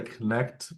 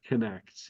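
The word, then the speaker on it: Knecht: not yes well fortunately Dalton pronounces it the old German Way the K yes not the silent k apparently uh let's say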